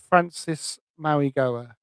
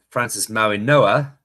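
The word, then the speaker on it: Francis Mauigoa: Maybe we we'll we'll start with uh uh Francis Maui Goa. Yeah, we'll go with uh Francis Maui Noah. The G is silent, but he's um a bit right.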